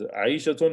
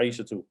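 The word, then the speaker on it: عائشةُ: Okay, Zainabu, Aminatu, Ammarun, Sa'idun, Fatimatu, not Fatimatun, it's Fatimatu, Maryamu, Aliyun, male name, Aliyun, Khalidun, okay, Abbasun, is Aishatun or Aishatu? It's a feminine name, it's Aishatu, Muhammadun, okay, not Muhammadu, Muhammadun, Sofiyatu, Khadijatu.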